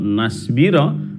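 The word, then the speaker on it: نَصْبِرَ: Kalau nasbira berarti Anda mematikan sin, tapi dia adalah shad, maka cara membacanya adalah lan nasbira. Jadi waktu mematikan shad, mulut diusahakan untuk membentuk huruf shad.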